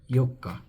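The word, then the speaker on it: 四日: this is the small tsu, which gives the pronunciation of mikka. Then the fourth day this is yokka.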